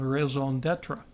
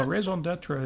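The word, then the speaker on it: raison d'être: You left out that I was corrected in the pronunciation of raison d'etre, which Raison d'etre.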